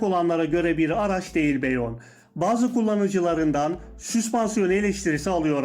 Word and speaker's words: Bayon: Bazı arkadaşlarımız Bayon'a neden Beyon diyorsun diye serzenişlerde bulunmuşlar. Arkadaşlar marka aracın okunuşunun Beyon olduğunu ve ısrarla Beyon dememizi vurguluyor.